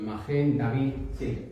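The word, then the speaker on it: מגן דוד: Magén. David, pronunciación magén David quiere decir escudo de David y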